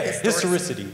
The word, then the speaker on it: historicity: There was a word that was on the screen that I don't know how to pronounce. I believe it's historicity. Yeah, historicity.